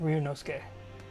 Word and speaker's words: Ryunosuke: Okay, yeah, that's how you say it, Ryunosuke.